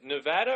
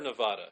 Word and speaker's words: Nevada: yeah Nevada it's in Nevada yeah I'm sorry Nevada or Nevada cuz I say Nevada some people say Tibet I saw I said